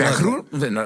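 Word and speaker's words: Vaquer: Vakur. Vakur. Vakur. Vur. Vakur. Absolutely. Yeah.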